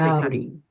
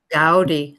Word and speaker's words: Gaudí: And notice, by the way, that he does have an accent on his I, so we pronounce it Gaudí because the inclination is to say Gaudí.